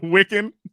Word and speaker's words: Wikan: Wikan? Yeah. It is pronounced Wikan.